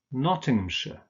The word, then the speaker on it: Nottinghamshire: shire, of course, but in these place names, in combination with the names of towns, for instance, this is pronounced sh. So we have Oxfordshire, Nottinghamshire. Remember that ham is just pronounced so Nottinghamshire.